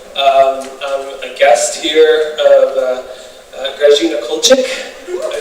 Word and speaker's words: Grażyna Kulczyk: I'm a guest here of Grażyna Kulczyk. Did I say it right? Yes. Okay, good. Very hard word for me. I want to say Grażyna all the time. I don't know why. Grażyna Kulczyk.